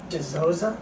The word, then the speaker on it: Dizozza: Dizozza.